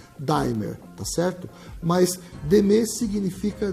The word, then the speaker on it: D'AIMER: Nós resolvemos nacionalizar a marca, a palavra d'aimer em Daimler, para que todas as pessoas possam, em qualquer parte do Brasil, pronunciar a palavra como ela é lida, Daimler, tá certo?